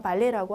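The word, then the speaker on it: ballet: 우리 무용 중에서 발레라고 하죠. 그러니까 발레라는 단어의 기원이 프랑스에서 왔기 때문에 우리가 발레라고 발음을 하는데요. 끝자음 발음은 없습니다.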